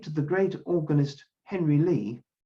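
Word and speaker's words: Ley: that we're indebted to the great organist henry lee spelt any why but it's pronounced lee who is to play the westminster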